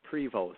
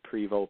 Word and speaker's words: Prevost: out the website too now how do you say your last name again I don't want to mess it up so it's prevot so and then privo p r v o s just